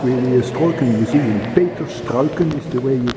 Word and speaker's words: Struycken: my house is really is talking using fatal skulkin is the way you pronounce his name but people called us